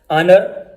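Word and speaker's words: honour: मसलन आवर, honest, ऑनर, hair, herb.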